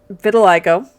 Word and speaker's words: vitiligo: a bitter little vitiligo i can never ever in my life pronounce that every time i never pronounce it right vitiligo has it and that's the only reason i know yeah it's vitiligo so again it's it